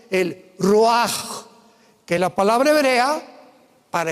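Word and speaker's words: ruach: Y exhaló Isaac el roach. Apúntalo como suena. R u a c h. El roaj, que la palabra hebrea para espíritu.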